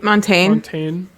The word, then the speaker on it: Montaigne: Maddie wrote, he posted a song by, how do you pronounce her name? Montaigne? Yeah, Montaigne.